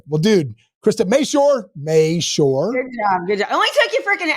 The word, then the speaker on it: Mashore: quick that quick well dude Christa May sure May sure good job good job it only took you